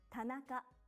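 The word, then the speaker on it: 田中: The first example is a common Japanese surname, Tanaka. Ta-na-ka. It's made up of 3 syllables, ta-na-ka. Each syllable consists of 1 consonant and 1 vowel.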